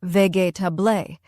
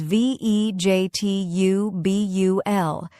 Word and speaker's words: vegetable: For example, many learners say vegetable like ve tabé. But the correct pronunciation is v e j t u b u l. It's short and soft.